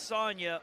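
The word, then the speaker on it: Sagna: Okay, first name is spelled S-A-G-N-A, but they're saying it's Sonya, O-U-S-S-E-Y-N-O-U, Asano.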